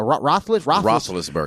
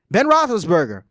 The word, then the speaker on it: Roethlisberger: Your guy, Big Ben, how you pronounce that? Roethlisberger. Roethlisberger. Ben Roethlisberger.